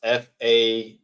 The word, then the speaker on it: Fashanu: So it is pronounced Fashanu.